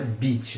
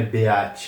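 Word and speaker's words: beach: É muito comum que quando tá escrito e a junto, na verdade você pronunci. Então é bit mesmo, não é beat, é bit.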